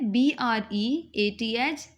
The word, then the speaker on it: breath: Breath rhymes with death. As we pronounce the word death, the rhyme of this word is also breath. ठीक है? B-R-E-A-T-H, breath.